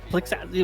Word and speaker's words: Plixas: Plixas, is that how you say it? Like Roxas, but instead of Plixas. Okay, gotcha. Plixas.